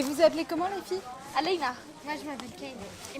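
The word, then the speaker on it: Aleyna: Aleina.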